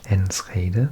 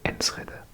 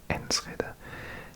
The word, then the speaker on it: Enschede: I used to say it Enschede, but I think someone told me in a comments section once it's actually Enschede. So I think this place is pronounced Enschede.